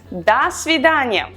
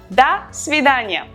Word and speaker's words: до свидания: The formal way is до свидания, which literally means until the date. До свидания. Da, we write do, but we pronounce da because o in an unstressed position is pronounced as a.